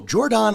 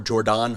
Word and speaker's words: Jordon: And I guess Jordon Hudson, I like to call her Jordon Hudson because it's spelled Jordon.